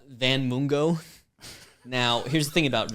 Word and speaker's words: Mungo: Last name Mungo, Mungo. Kind of, or maybe it's like Mungo rhymes with fungo.